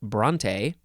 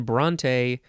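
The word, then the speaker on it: Brontë: And then bronte, I guess maybe we would just say bront if it didn't have the what is it?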